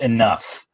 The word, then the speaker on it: enough: you know it's like it's spelled enough shouldn't that be like you know en you F not o ugh like since when does gh make a fuss out that's just ridiculous